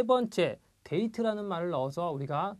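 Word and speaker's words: デート: 자, 데이트, 대가 장음입니다. 발음이 깁니다.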